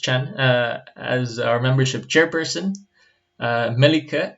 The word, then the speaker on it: Chan: We have Chan, this is pronounced Chan, as our membership chairperson.